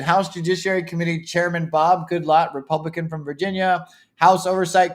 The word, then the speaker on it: Goodlatte: Sessions sent a letter to House Judiciary Committee Chairman Bob Goodlatte, I think that's how you pronounce it, Goodlatte, Republican from Virginia.